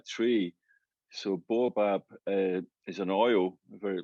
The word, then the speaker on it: Baobab: i present pronounce it it's not a scottish word it's like it's an african uh tree so bob is an oil a